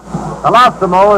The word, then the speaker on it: Colosimo: Colosimo is the correct pronunciation of this young man's name, Colosimo.